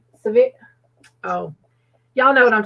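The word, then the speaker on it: Sevierville: at moving towards um i never say it right we call it ceverville but it's severe oh y'all know what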